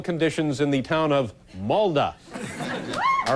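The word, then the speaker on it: Molde: Spell it for me. M-O-L-D-E. Oh, so it's M-O-L-D-E, Molda?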